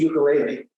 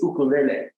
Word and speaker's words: ukulele: I told you that if you ask this guy, a local who in Hawaii, how to pronounce that instrument, it isn't ukulele, it is ukulele, okay?